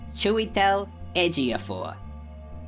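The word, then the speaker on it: Chiwetel Ejiofor: I need to pause for a second cuz I need to learn a couple of pronunciations over here. Okay. This guy's name is Chewel Edgaphor and this lady is uh Renate Lions.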